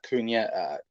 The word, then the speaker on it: Cunha: One thinks that if not this window, Liverpool will go back in for Matthias Cunha. I think that's how you say it, Cunha, in the summer to replace Bobby.